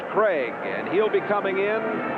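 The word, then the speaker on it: Krieg: K R I E G, but pronounced Craig.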